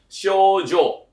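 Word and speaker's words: 症状: Makanya cara baca itu adalah shoujo.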